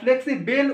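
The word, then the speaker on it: flexible: বলা এখানে আছে এবার অনেকের ধারণা দেখবে বি এল ই টাকে বেল মতো উচ্চারণ করে এইখানটায় বি এল ই যখন থাকবে মানে ফ্লেক্সি এটাকে না ফ্লেক্সি বেল উচ্চারণ করে অনেকে কিন্তু একচুয়ালি এটা হচ্ছে ফ্লেক্সিবল লেখা আছে যেমন সিঙ্গেল টাকে সিঙ্গল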